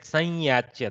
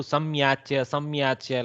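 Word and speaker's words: संयाच्य: See, observe how she said sanyachya. That is the correct pronunciation. Sometimes we in the south we do samyachya like that. That is incorrect.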